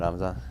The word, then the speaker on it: Ramzan: Ramzan? Ramzan, yeah.